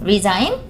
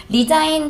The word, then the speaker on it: resign: resign 같은 경우로 resign, Z 발음으로 읽게 되면은요, 그거는 관두다예요.